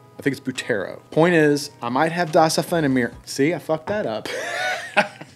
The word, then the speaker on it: Offene Meer: And by the way, I'm saying it correctly. I know. I'm the king of just completely fucking up pronunciations. Michael actually commented on my EDC video and said that I pronounced Offene Meer properly.